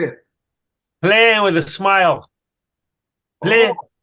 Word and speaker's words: Plein: Plein with a smile.